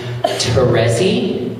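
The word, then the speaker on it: Terezi: Teresi, is that correct?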